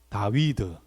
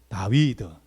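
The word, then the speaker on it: דָּוִד: 한번 해야 되지 않겠습 한번 따라합니다 다위드 다위드 이것이 여러분 히브리 뭐라고요 히브리 말했을 때에 우리 말하는 다이 용어로 말하면 데이비 그러니까 우리 한국말이나 여러분 히브리어나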